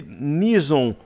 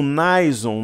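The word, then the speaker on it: Nison: usando kendalls né Steve Alguns falam estive misson ou Naison né Eu já ouvi as pronúncias de até de americanos as duas formas mas eu acho que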